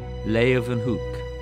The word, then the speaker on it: Leeuwenhoek: L-A-Y, lay, u, then, they pronounce it with a V, hoek, Leeuwenhoek.